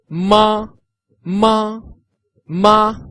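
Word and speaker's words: 吗: represent a question so the tone is tone of no Tong which means you whisper this character so all together for three times ma ma ma you've been a great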